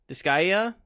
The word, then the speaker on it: Disgaea: you know not shovelware um i'm going to butcher the name of this next one it's called this disk dyskagia disgaea did it a whole lot better than i